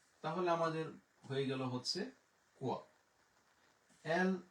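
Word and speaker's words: quoi: ইউ সবসময় উচ্চারণ হচ্ছে ক, ও ই এর উচ্চারণ হচ্ছে ওয়া, তাহলে আমাদের হয়ে গেল হচ্ছে কোয়া।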